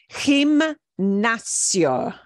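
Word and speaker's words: gimnasio: it easier to pronounce it looks like gymnasium but it is pronounced him nazio and I've got them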